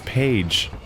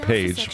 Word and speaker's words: Pey'J: His name is Pey'J. It's spelled very unusually, so it took me a few episodes to catch on to the fact that his name's literally just Pey'J, but now I'm thinking about it.